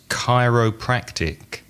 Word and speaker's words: chiropractic: The next one begins with a CH, but I know that it's a K sound. It's chiropractic, because a chiropractor, I think, works on your back, doesn't he?